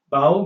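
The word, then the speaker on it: bough: the word like this it is spelled b-o-u-g-h -o-u-g-h but the pronunciation cannot be predicted from these letters it is pronounced as vowel bow means the branch of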